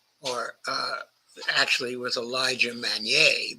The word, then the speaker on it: Magnier: why with a li mager or uh actually with Elijah maner because I should give that pronunciation a French pronunciation and this video is